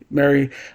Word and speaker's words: Mari: So different people have different pronunciations for the name. Now that I watched it, now that I see it, okay. Mary.